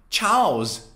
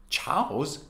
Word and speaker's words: chaos: do you say it ch makes the sound of ch right so is it cha chao chaos chaos it's like saying ciao and then making it plural chaos no it's actually chaos chaos